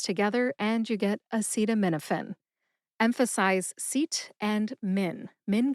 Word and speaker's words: acetaminophen: But actually, we pronounce it fin, like the fin on a fish. So it's a super short E sound. Fin. American healthcare professionals say acetaminophen, not acetaminophen.